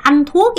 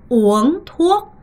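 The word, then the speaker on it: uống thuốc: 절대 안토옥이 아니라 오엉토옥 요렇게 발음을 하셔야 되고요.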